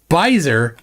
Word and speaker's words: Beiser: Mark Beiser says, Beiser, long I, silent E.